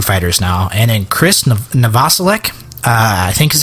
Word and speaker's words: Novoselic: So drummer of Nirvana, singer of Foo Fighters now, and then Chris Novoselic, I think is how you pronounce his name.